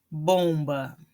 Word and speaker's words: bom: Quando a palavra termina em M, eu não pronuncio o M, ele simplesmente me indica um final nasal. Então, fim, bom. Estão vendo? Vejam que eu não falo fim, bom, né? Eu não vou pronunciar o M, tá? Ele fica assim com um som nasal.